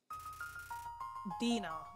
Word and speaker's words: dinar: Dinar. That's how it's pronounced.